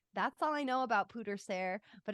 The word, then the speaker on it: pwdre ser: it's a Welsh word I wonder how you say it pooter Ser that's it it was like pewter more I think let